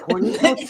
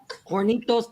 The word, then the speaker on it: Hornitos: Hornitos. Hornitos. Hornitos. We're in the South. We don't do that. I can't do that. Hornitos. Because, you know, sounds like Hornitos. Hornitos. Hornitos. The H is silent anyway.